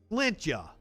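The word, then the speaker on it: Sláinte: Slinte? Am I saying it right? Slinte. Can you say it phonetically for me? I'd love to give you a toast. Slant ya. Is that it?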